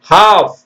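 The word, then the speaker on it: half: கன்று குட்டி சாமன் வஞ்சன மீன் பாம் கிளையில்லா மரம் ஹாஃப் தெரியுது தானே ஹாஃப் ஹாஃப்னா பாதி n-க்கு ஒளி இல்லாத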